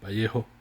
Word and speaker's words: Vallejo: Vallejo.